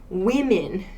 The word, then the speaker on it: women: woman woman w-o-m-a-n and women woman women spelling is very similar but we actually change this o sound and the ending vowel sound men women so woman singular women